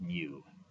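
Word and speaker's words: μ: We pronounce that mu. In Greek class, they say mu, but in math class, we say mu. So mu is about 44.52.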